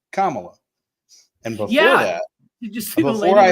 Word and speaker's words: Kamala: know until this year that her name was pronounced commala and before that before I had been corrected